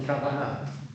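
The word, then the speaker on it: כוונה: Okay, it's accented on the first syllable there, though. Keva and kavanah. The first word is first syllable, the last word is on the second word is on the last syllable.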